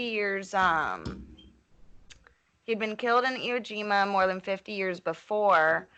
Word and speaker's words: Iwo Jima: Yeah, Iwo Jima.